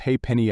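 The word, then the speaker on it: halfpenny: made up one pound the half peny pronounced hey Penny a might seem like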